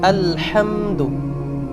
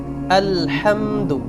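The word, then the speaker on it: الحمد: দাল পেশ দু এখানে অনেকেই একটু টান দিয়ে ফেলেন আলহামদু টানটা হবে না লম্বা করা যাবে না আলহামদু হারাকাতের উচ্চারণ তাড়াতাড়ি করতে হয় আলহামদু পুরা শব্দের সঠিক উচ্চারণ হলো আলহামদু আবারো বলছি আলহামদু আলহামদু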